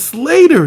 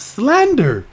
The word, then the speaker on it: Slater: It's Slater not Slander but whatever.